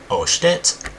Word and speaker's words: 押して: So first, the 2 easy ones are oshite, which means press it. So when you hear osh with an O at the beginning, that means to press it, and it's only 2 syllables.